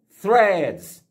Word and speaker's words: Threads: vamos lá essa palavra se pronuncia Friends exatamente aquela famosa linguinha no meio dos dentes aí ó straights é